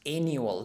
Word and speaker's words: annual: Since gated communities have high annual fees, annual, this U is pronounced practically like in casual, so casual, annual, so U, like as well as in the alphabet, same as in the alphabet.